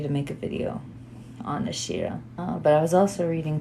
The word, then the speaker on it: Asherah: Today have been preparing to make a video on Asherah. Lots of you have asked me about Asherah or Ashira, the better or the more proper pronunciation.